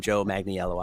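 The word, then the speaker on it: Joe Manganiello: so talking to him, I kind of stumbled on his name, even though I know how to pronounce it. He corrected me. He's like, "Yes, I'm Joe Magniello."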